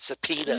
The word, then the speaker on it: subpoena: You said subpoena. Number one, it's spelled very funny. Right. Because it's spelled subpoena. Right. Because it's Latin. Subpoena. Yeah. But it also, it sounds a little bit like peanut.